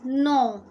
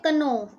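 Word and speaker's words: know: Next आपका new word है, new whole word is नो. नो. कुछ बच्चे इससे बोलते हैं कनो. क क्या जो है इसमें, के जो है वो क्या है? साइलेंट है. ना ही इसे नाव बोलना है, ना ही इसे कनो बोलना है.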